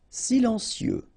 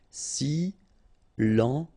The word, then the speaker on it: silencieux: Silencieux. Final X not pronounced, okay? This part here will be pronounced like cieux, okay? Then you get silencieux.